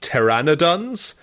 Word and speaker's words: pteranodons: What are puradons? It's I think it's actually pronounced pterrannodons.